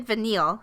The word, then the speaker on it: Vanille: kind of feel like when I looked at Vanille am I saying it right yeah I kind